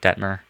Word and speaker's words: Detmer: It's Coy Dietmar. I think that's how you say it, Detmer.